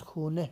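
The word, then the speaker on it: خانه: سے آپ لکھیں گے۔ تلفظ خانے ہے، تلفظ خونے کرنا ہے پیش کے ساتھ۔ تو اب ہے ہمارا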